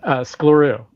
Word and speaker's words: Sklarew: How do you pronounce it? Skliru Skliru Yeah yeah yeah yeah.